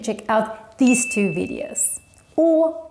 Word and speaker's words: Å: Å, with this little circle on the top, is kind of a mix between the letter a and the letter o. And it's pronounced like this. Å. Oh, you kind of need to look like this when you pronounce it.